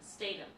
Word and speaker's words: Statham: Statham.